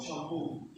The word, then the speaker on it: shampoo: But then, based on this rule, we need to apply this rule. This stress on this last syllable, shampoo.